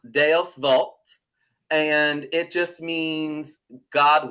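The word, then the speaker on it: Deus vult: see uh is Latin I believe it's pronounced d Vault and it just means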